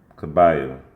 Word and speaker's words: Kabayel: Kabayel.